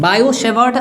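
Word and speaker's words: Biot–Savart: biotech birds बोलकर है वह बोलते हैं इसको लिखते हैं वोट मटर पड़ते हैं भाइयों की साइलेंट होता है बायो सेवर्ट और हिंदी समय मिलकर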